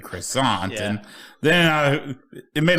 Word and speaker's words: croissant: Well, that's how the French say it. And it's a French word.